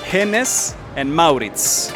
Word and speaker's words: Hennes & Mauritz: No es el nombre verdadero, porque en sueco, que es el nombre original, se dice Hennes and Mauritz.